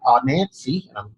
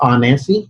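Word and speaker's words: Anansi: growing and now you're running your own agency Nancy I hope I'm saying that right is eight in a 10 s correct yeah well this pronounced on Nancy is it Ryan auntie Nancy is the spider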